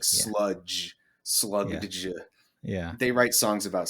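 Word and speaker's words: Slugdge: It's like slug. It's like it's well it's spelled s l u g d g. So like sludge slug.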